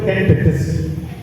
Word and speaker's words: Ken Dedes: Ternyata kalau di Paraton itu pakai popet, bukan pakai taling. Jadi cara bacanya yang benar itu Ken Dedes.